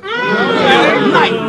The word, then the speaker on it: Knight: Night. Check the spell and the K is silent.